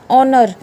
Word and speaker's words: honour: ये वर्ड आप हमेशा पढ़ते हो, HONEST, honest, HONOUR, ऑनर, HOUR, आवर। तो यहाँ पे H क्या होगा, साइलेंट।